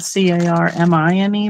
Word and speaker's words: Carmine: for for our house is Carmine, just spelled C A R M I N E, but it's pronounced Carmine.